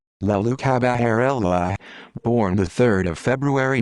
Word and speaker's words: Leoluca Bagarella: leo luca baguerella italian pronunciation la lucha baharella born the 3rd of